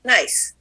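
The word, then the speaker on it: gneiss: igneous granite changes into g-n-e-i-s-s pronounced nice metamorphic rocks slate meta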